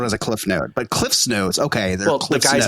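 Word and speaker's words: CliffsNotes: I wish it wasn't I understand why it's Cliff's Notes but I wish it wasn't which is just Cliff Notes which don't doesn't make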